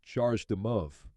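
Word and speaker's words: CHAdeMO: and standards such as chadam Mo pronounced charged Mo this is a Japanese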